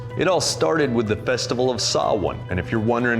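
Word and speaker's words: Samhain: It all started with the festival of Sawin. And if you're wondering how to spell that, you're wrong.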